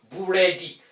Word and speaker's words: buredi: Bread, which is a monosyllabic word in English language, will now become, when it is syllable timed in Yoruba language, it becomes buredi.